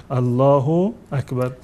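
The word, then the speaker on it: الله أكبر: عربی از نظر ادبیاتی اشتباه است و اون تلفظ صحیحش هم این است که باید بگ که الله اکبر منتها اگر کسی بنا بر اینکه نمیشناخت یا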